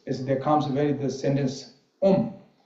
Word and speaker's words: Om: So Om, now first is there comes the sentence Om. Sanskrit Om is usually is 3 consonant and vowel together is 1 syllable. Om comes. A, U, Ma. These together, A, U, Ma, and become syllable Om.